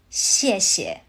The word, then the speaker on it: 谢谢: The second 谢 softens into a neutral tone, so it comes out light and quick. 谢谢. You'll hear this constantly from native speakers. The first syllable carries the weight. The second one floats.